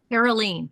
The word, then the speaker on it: Karoleen: Karoleen, yes. Karoleen. A long E there because it's double E's.